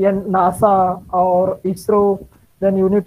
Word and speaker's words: NASA: are not spelled out it is pronounced as a whole word nasa so you need to